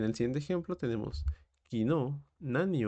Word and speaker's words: 何: En el tema número 4 tenemos nan y nani. Realmente ambas cosas significan lo mismo, significan que, y este es su respectivo kanji, pero existen ciertas reglas que van a cambiar esta pronunciación hacia un nan.